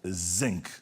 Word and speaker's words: zinc: you have to also learn how to say the vibrating 'z'. We don't have that in German. He said, 'The sink is made out of zinc'.